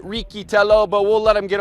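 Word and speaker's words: Riccitello: other writers American Young American Matthew richello well he pronounces it ritell but we'll let him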